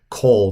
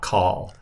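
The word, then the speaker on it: כל: So whenever you see this word, kol, you always pronounce it kol, not kal, because this is what they call a kametz chatuf, which is a shortened O-class vowel.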